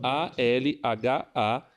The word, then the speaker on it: Al Hayat: Então, ALHAYAT. Al Hayat se pronuncia Al Hayat.